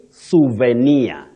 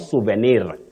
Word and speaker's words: souvenir: you say in English you say souvenir not souvenir or souvenir souvenir yes we